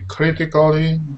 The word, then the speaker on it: critically: And also, when you have this A-L-L-Y sound at the end, it doesn't sound like Ali, it just sounds like Lee. Okay. So it sounds like critically, this.